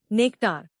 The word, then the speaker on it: nectar: नया लफ्ज नेक्टार। इसको तोड़ते हैं नेक्टार। जोर नेक पर है।